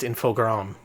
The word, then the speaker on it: Infogrames: Also, they're officially pronounced Infogram, but their song clearly calls it Infogrames.